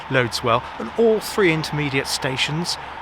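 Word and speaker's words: Loddiswell: called lwell if you're from Devon some people pronounce it liswell which is the way it's pronounced but it's yes it's pronounced loads well and all three intermediate stations exist and all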